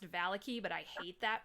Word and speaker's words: Vallaki: straw entertained this is Game three onward to VALIC I I realize it's actually pronounced Valley key but I hate that pronunciation so we're going